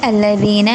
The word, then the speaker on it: الذين: അവിടെ അല്ലദീന എന്നുള്ളിടത്ത് ദാലിൻ്റെ ഉച്ചാരണം ശ്രദ്ധിക്കുക. ദെൻ കഫറു മിൻ അഹ്ലി അവിടെ സുക്കൂനുള്ള നൂനിന് ശേഷം ഇൽഹാറിൻ്റെ ലെറ്ററായിട്ടുള്ള അംസ വന്നതുകൊണ്ട് അവിടെ നമ്മൾ മിൻ അഹ്ലി എന്ന് തന്നെ പാരായണം ചെയ്യുക.